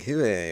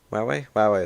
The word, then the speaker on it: Huawei: as we go so someone's saying huey or huawei we all think it's huawei huawei huawei is technically the pronunciation if you're interested i've